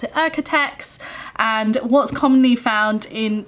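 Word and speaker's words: OEKO-TEX: it all but um in the uk we pronounce it architects and what's commonly found in the fabric shops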